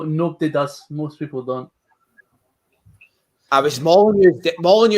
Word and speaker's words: Molineux: Molineux is the one that stands out because it's the way it's pronounced, because it's silent.